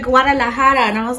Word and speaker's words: Guadalajara: place here called Taqueria Guadalajara, and she was like, that is not how you say it. She was like, Taqueria Guadalajara.